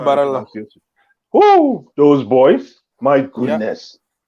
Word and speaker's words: Barella: And then those two, Locatelli and is it Barrera? I don't know how you pronounce that guy's name. Yeah, Nicolo Barella.